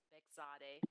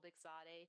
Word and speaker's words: Bexade: The pronunciation is Bexade. I know it's a hard one. La prononciation est un peu difficile. Il faut blâmer mon mari. So my name is Bexade.